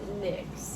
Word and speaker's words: Nyx: is in why nyx it's pronounced nicks nyx cosmetics that's what you